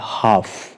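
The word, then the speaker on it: half: silent है एफ से पहले एल है तो वह साइलेंट है हाफ हम एल को प्रोनाउंस नहीं करेंगे और हाफ का अर्थ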